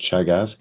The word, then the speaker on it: Teagasc: um but uh just by means of introduction chagisk is the Irish agriculture food and development authority and it's pronounced chagas it's a an anaic word meaning teaching or